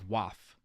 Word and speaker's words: WAF: What he said there was WAF, which is short for he's basically pronouncing the acronym WAF, which is Web Application Firewall.